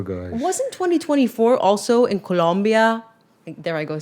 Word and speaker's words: Colombia: wasn't 2024 also in Colombia There I go saying it like that.